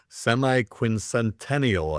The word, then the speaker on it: semiquincentennial: Semiquincentennial I believe it's pronounced or quarter millennial or just 250th.